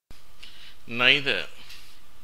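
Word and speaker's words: neither: நைதர் இந்த வார்த்தையினுடைய அமெரிக்க உச்சரிப்பு நீதர் பிரிட்டிஷ்காரர்கள் இதை நைதர் என்று சொல்லுகிறார்கள் அமெரிக்கர்கள் நீதர் என்று உச்சரிக்கிறார்கள் இது எப்பொழுதும் நார் என்ற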